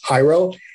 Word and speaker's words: Jairo: It's got like, wait, well, how do you pronounce it? So it's Jairo.